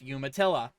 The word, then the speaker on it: Umatilla: county sheriff's office said and yes it is pronounced umatilla i don't know where that name comes from